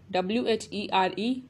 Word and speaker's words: where: Rule number 1 is h is mute when it appears after w. It means कि किसी word में अगर W के बाद H हो तो H silent हो जाता है. For example, WHY, why, WHAT, what, WHEN, when, WHERE, where.